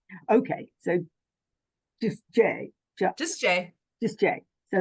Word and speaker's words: Jai: I'm like is it Jah it's j just like the letter J oh J you see